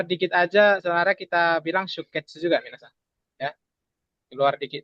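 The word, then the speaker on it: 出血: sutsu sama ketsu dia tapi dia Oh, bacanya sikat. shuketsu ya.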